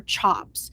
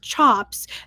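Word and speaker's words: tjap: the quality of their chops. Now, if you don't know, chop t j a p I believe is how it is. It's pronounced kind of like a like your chop.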